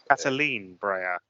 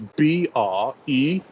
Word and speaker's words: Catherine Breillat: Cataline Breillat. Like Catherine, and the surname is Breillat.